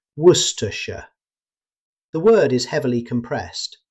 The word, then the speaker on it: Worcestershire: Instead of trying to pronounce every letter, British speakers commonly say Worcestershire. The word is heavily compressed, so Worcestershire.